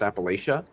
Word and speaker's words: Appalachia: Just like it's funny because I'll say Appalachia even though that's actually a French word and it is technically pronounced Appalachia but the same reason